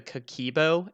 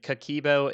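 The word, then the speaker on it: Kakeibo: flair finance could the cakibo and kikibo is the new name i know we were trying to say it yesterday and i think i pronounced it wrong so it's k-a-k-e-i-b-o um that's like the new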